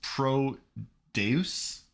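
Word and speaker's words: Prodeus: the most recent Doom you should explain how it's spelled because that's definitely not how how I would have spelled it right e-r-o-d-e-u-s Pro Deus yeah proteus a great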